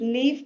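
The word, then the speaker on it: leaf: Next है लीफ, लीफ में ई और ए, ये दो वॉवल्स यूज हुए हैं। ई का साउंड दे रहा है, ए साइलेंट है।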